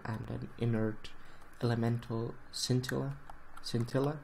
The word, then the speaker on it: scintilla: Scintilla, I think it's scintilla. That's how the pronunciation goes. Stress should be on the second eye.